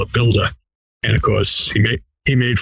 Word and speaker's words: Buildah: I call it Buildah. And of course, he made fun of my Boston accent where I don't pronounce the ER sound. I pronounce it AH, and that's where Buildah comes from.